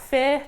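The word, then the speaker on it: PHIR: That is Politics, History and International Relations, and we pronounce that FEAR because we're really cool.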